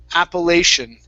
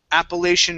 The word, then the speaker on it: Appalachian: important mountains in the united states this is appalachian appalachian mountains appalachian mountains good nice job okay let's